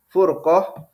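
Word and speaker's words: فُرْقة: perselisihan perpecahan seperti itu kalau kalau Fanya di di kasrh ya firqoh bacanya firqoh itu maksudnya kelompok tapi kalau di domamah furqoh ya ini maksudnya perpecahan seperti itu ya Jadi kata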